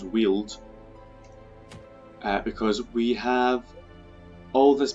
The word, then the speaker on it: Weald: I found out it's actually pronounced Weald.